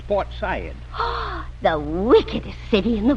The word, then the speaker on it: Port Said: And you don't say Port Said, it's Port Said.